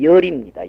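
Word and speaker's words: 說: 말씀설자는 이름에 들어가기 때문에 열입니다. 열. 말씀설자는 그 정성 이름이기 때문에 열입니다. 발음을 열이라 그러죠.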